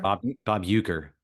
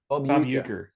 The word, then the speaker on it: Bob Uecker: Bob Wecker? Bob Uecker. Bob Uecker.